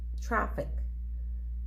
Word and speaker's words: traffic: the main stress in these two syllable words subway traffic garage police as you can see in the first two words the syllable which is stressed is the first one subway traffic and in the second